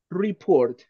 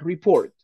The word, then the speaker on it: report: report in this one pronunciation report the emphasis at the beginning report report fill in what is f